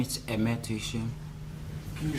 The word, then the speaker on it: Aime Tuyishme: My name is Aime Tuyishme. Can you spell it for us, please?